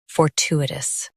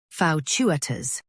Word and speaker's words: fortuitous: Fau-chu-i-tus. Fau-chu-i-tus. Now, read the syllables of British pronunciation shown on the screen naturally. Fau-chu-i-tus. Fau-chu-i-tus. US two. UK chu-a. Don't say two in UK.